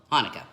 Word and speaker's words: Hanukkah: And sometimes the word Hanukkah is spelt with a CH, and it looks like Chanukah, right? But it's still Hanukkah.